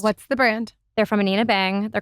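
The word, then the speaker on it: Anine Bing: I thought it was Annie Bing. So everybody does. Oh, okay. Yes. Okay. I believe she's Swedish. Okay. I only recently learned that it's Anina. Okay. But yes, it's Anina Bang.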